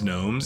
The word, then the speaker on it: gnomes: that literally pronounced itnes gnomes yeah look they completely dropped the G for for the Gnomes the Gomes that distributed